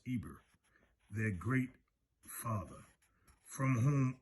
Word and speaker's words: Heber: the hebrews are called after heber pronounced ibr their great father from